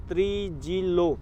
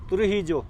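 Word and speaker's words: Trujillo: उस लेडी का नाम था ग्रिसेल्डा ब्लांको डे त्रिजिलो, जो भी है ट्रुजिलो है, ट्रुहिजो। यहाँ पे स्पेनिश में थोड़ा अलग प्रोनाउंस किया जाता है इनको।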